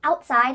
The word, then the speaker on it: outside: The word outside has a T in the middle, but because this word